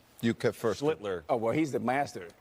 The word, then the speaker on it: Schlittler: Schlittler. Oh, well, he's the master. Schlittler. Schlittler. Now your turn. Sound like Hitler.